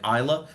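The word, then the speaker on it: Islay: A little bit more on the ISA like Isa. Yes, it is pronounced Isa.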